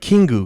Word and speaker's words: Kingu: It was like Kingu, because I was like, oh, it sounds like king.